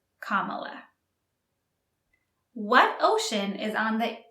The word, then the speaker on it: Kamala: Harris Kamala Harris and be careful with the pronunciation Kamala what ocean is on the east coast of